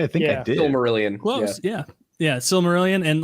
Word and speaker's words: Silmarillion: Did I pronounce it correctly? I think I did. Silmarillion.